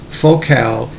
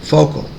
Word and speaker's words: Focal: Focal is a French speaker company, and in America we are likely to pronounce it focal, as in a lens focal length, but the French pronunciation is focal.